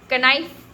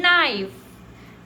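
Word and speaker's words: knife: के का साइलेंट हो जाता है। देखो के एन आई एफ ई इसको हम क्या पढ़ते हैं? कनाइ नहीं बिल्कुल नहीं पढ़ते। इसको हम क्या पढ़ते हैं? नाइफ नॉलेज नी नी तो सबने पढ़ा होगा ना।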